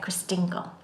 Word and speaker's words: Christingle: Christingle. And it rhymes with mingle.